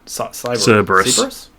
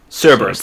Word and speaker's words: Cerberus: Cerberus. Cerberus, that's it.